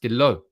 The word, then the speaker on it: Dalot: Dalot is pronounced Dalot. The T is silent. I'm sorry, it's Diogo Dalot.